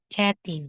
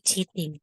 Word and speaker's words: chatting: So, yung chatting sa kanila po, hindi po yan cheating. Che. Okay, vowel po, E. E po nandyan. Parang letter H, E po yung bigkas. O yung tunog. So, chatting. Hindi cheating.